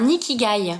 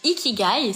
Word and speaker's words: ikigai: fait et ça c'est ce qu'on appelle un nickigai pour ceux qui connaissent pas je vous invite à trouver votre equidai ça s'écrit i K i G a I tréma